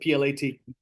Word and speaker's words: plat: the subdivision what plat that's how you pronounce it plat not a typo and once those plans